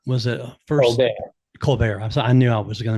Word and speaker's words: Colbert: Actress Claudette Colbert was it first? Colbert. I knew I was going to mispronounce that.